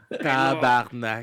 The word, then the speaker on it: tabarnak: Oh, it's How you say it? Tabarnak. Tabarnak de police. Like tabernacle? yeah, exactly.